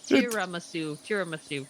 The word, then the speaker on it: tiramisu: you can laugh at me that's fine oh tiramisu that's what i yeah that's what i thought